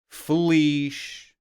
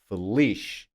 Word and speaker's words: feliz: Any word with any of these endings will be stressed on the last syllable. Ali, feliz, Peru, Jesus. You see? Or can you hear? Last syllable, the stress. Ali, feliz, Peru, Jesus.